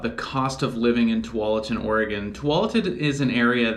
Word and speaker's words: Tualatin: of you know something that people tend to mispronounce so for the record it's Tualatin um but even for people here locally in